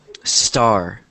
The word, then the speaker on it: star: this word star um a lot of times Spanish speakers will say estar but instead of that it's just star T star star star